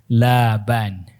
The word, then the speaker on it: Laban: Nama pamannya Laban, dibaca panjang lamnya, bukan pendek. Kalau pendek susu jadinya. Laban.